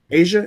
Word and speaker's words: Aja: Is Aja Wilson or AJ Wilson? She's a WNBA player. Asia, is it Asia?